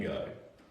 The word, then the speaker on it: Gogh: how fast I want to paint off Van Gogh. I pulled up the other day, actually, Van Gogh. I say Van Gogh, that's the American way of saying Van Gogh. Van Gogh, and then Van Gogh is British or UK or something.